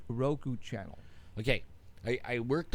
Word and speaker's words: Roku: on R crew R crew how do you pronounce Roku Roku now do you have to purchase something in